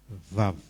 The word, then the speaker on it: Vav: Tapi Vav itu huruf keberapa di nama Bapa? Ya. Yod, Heh, Vav, Heh. Ya. Memang di bahasa dari Ibrani, dia di alfabetnya nggak ada W, tulisnya V tapi kita bacanya W.